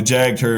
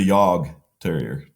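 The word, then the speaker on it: Jagdterrier: Okay, like the Jag Terrier is a Yog Terrier.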